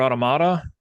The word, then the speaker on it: Automata: So I opened up my copy of, I don't even know how you say, is it Near Automata? That's how everyone on the internet pronounces it.